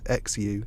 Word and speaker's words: Xu: you just said it's like SH. SH. So that's what I'm going for. I'm going for Xu.